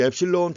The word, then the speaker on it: 엡실론: 거기 엡실론 표시가 되어 있는데 그리스 문자입니다. 그리스 레러 엡실론이라고 읽어요. 엡실론.